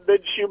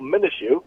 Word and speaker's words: Minshew: My mea culpa, I did have Minshew mania. Mikey Miss actually said I was mispronouncing. I was adding the syllable Minshew. That was wrong.